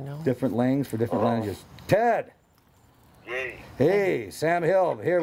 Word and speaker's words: Lange: phone and uh no he pronounces it Lang is yeah L I always hope everybody said Lang yeah had a knee